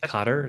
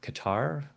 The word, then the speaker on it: Qatar: Uh but I believe it's pronounced Carter, not Qatar.